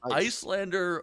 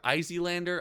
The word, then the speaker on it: Iyslander: got an icelander win is it icelander izeelander i think it's just icelander right like that's what it's meant i've heard people pronounce it icelander yeah yeah yeah i think that's what it's meant to be i who knows islander